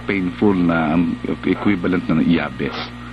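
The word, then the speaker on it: Jabez: of yabes ' ba si yabes J J yun kaya lang yabes ang bigkas o Pero alam mo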